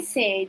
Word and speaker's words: said: Então, assim, se você observar, ela tem uma escrita, mas a pronúncia dela, se você for pela pronúncia, ela parece que é outra coisa, né?